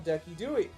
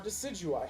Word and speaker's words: Decidueye: Redlock Fox, I'm not even entirely sure how frequently you see Redlock Fox on Decky Dewey. Or Decidueye, however you prefer to pronounce it.